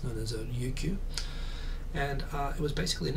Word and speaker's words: Ryukyu: Of course, Japanese doesn't have an L, so in Japanese it's known as Ryukyu.